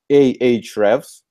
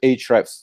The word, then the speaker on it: Ahrefs: I say lexical standpoint the right pronunciation is aah revs as far as I can tell but we hear like in the chef's headquarters we just keep the other other letter and call it a traps because it's just easier